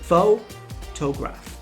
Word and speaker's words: photograph: For example, in the word photograph, the stress is on the first syllable, photograph.